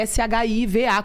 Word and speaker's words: Sheeva: E o Shiva dela é Shiva, como se fosse a Shiva hindu.